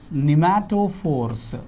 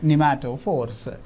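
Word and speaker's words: pneumatophores: They are also called as nematophores. P is silent. Here P is silent, right? P is a silent nematophores.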